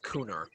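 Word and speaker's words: Gunnar: it should be pronounced cooner the it's a hard it's like it's more of a k than a g it's corner it's it's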